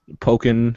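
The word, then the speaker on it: Pokkén: Pokin? Pokken, yeah, so like Tekken, but with Pokemon, so Pokken, I guess.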